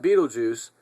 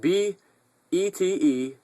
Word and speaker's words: Betelgeuse: Astrophysicists say that Betelgeuse, I really don't know how to pronounce that. Betelgeuse. Betelgeuse. Betelgeuse sounds good to me because it reminds me of that movie.